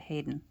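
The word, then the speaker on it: Haydn: husband's name is um it's spelled this way he was named after the composer hidden but uh they pronounce it Hayden um so there we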